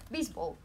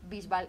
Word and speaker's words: Bisbal: gusta David Bisbal y quiero que la gente pronuncie bien Bisbal, porque por ahí por América seguro que dicen Bisbal. No, entonces yo voy a decir, como española, voy a decir David Bisbal y me agravo.